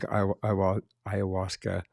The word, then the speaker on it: ayahuasca: So I may mess this up when I pronounce it. Ayahuasca. Ayahuasca.